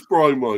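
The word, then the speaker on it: Mbeumo: No, I think it is Bromo, I think. Because you say the N. I think the N you don't pronounce.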